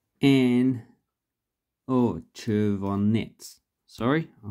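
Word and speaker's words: червонец: Okay, so then we have the Chervonsta and Chervonets. Sorry, I mispronounced it.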